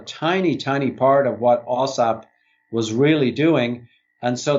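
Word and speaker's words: AAWSAP: Back to the work you were doing with the, would I pronounce it, OSAP? Yes, OSAP.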